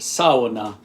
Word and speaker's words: sauna: and Estonia, it's pronounced Sow-u-na. So 3 syllables. The first syllable is like a female pig, Sow-u-na, Sow-u-na.